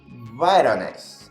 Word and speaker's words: Voronezh: falar sobre o caso, eu vou falar aportuguesado, depois o Dudu, que é o meu assessor para assuntos russísticos, né, vai falar aí a pronúncia correta. É o caso Voronezh. Dudu. Voronezh.